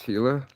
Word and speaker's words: Gila: doesn't know it's pronounced hila the G is uh silent or as a h